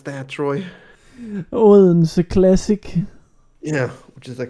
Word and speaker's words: Odense: Can you say how you pronounce that, Troy? Odense classic.